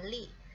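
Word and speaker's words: 力: Ini bacanya adalah li, yang di bawah ini li itu artinya adalah tenaga.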